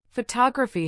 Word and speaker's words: photography: Photography has the stress on the second syllable.